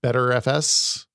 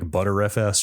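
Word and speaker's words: Btrfs: The file system is BRFS, BetterFS, is I think the pronunciation for the non-renem. I think it's open ended. I think you can there are multiple. I like ButterFS.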